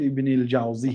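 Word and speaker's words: ابن الجوزي: جوزیه دیگر آدم است بعضیها ابن القیم الجوزیه را ابن القیم جووزی میگد خطا است نام‌ها را باید درست تلفظ کرد او دیگر آدم است این کس ابوالفرج ابن الجاوزی هست جاوزیه نیست اینش می‌گوید که جوابه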